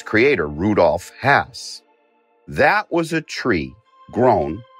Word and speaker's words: Hass: hass avocados on the shelf and it is pronounced hass a lot of people say haas other people say hass there's a debate i got a phone call from rudolph hass's grandson telling me specifically how to pronounce his